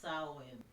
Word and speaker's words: Samhain: start from the pagan roots, the name is Samhain, but it's spelled Samhain. Okay, that's the name of the Celtic festival, Yes. but it's pronounced Samhain.